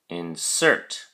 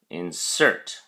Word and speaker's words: insert: look at your flashcard insert has two syllables in cert and the emphasis or stress is on the second syllable cert so we say insert insert it is a verb